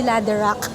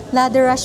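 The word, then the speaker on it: Läderach: Ang pronunciation ay hindi ladder. Okay. Thank you so much po. Ladder rush pala. Hindi ladder.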